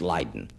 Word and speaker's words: Leiden: the sea to the village of laden in holland sometimes pronounced leiden in the university there